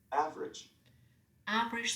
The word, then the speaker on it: average: foreign sometimes not pronounced average silent a average different silent e friend